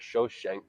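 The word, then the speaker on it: Shoshenq: and it listed uh this is the biblical shishak but they pronounced it shosen um just some military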